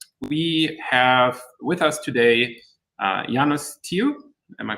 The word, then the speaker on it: Janus: We have with us today Janus. Am I pronouncing that correctly? Hopefully. And confusing, I know. Okay. Yeah, but Janus works as well.